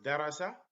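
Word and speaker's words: دَرَسَ: So here we pronounce darasa, and in this one we say darrasa, darrasa, darrasa.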